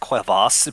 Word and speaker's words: Quevas: It's pronounced Quevas, but I am Quevas? completely. I am Oh, way Quevas. more okay with my name sounding like a cheese spread.